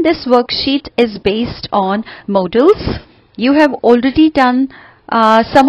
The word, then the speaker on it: modals: tell you here that generally students pronounce this word wrongly as modals. But if it is modals, तो D के बाद में double A होना चाहिए. So the correct pronunciation is modals.